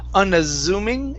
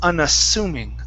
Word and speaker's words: unassuming: And the last one for you is most of the time when you have a double S, that's going to be an unvoiced S sound. So instead of unassuming, it's unassuming.